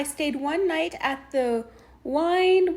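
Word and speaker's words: Wynn: my card I stayed one night at the wine Wayne the one that's spelled w-y-n-n Encore suite and it was very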